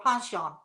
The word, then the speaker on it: penchant: A penchant for, or a penchant for. If you're French, that's how you say it.